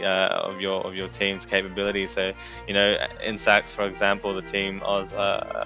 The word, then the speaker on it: Insaccs: Like, how do you pronounce what kind of... I think it's just Insaccs.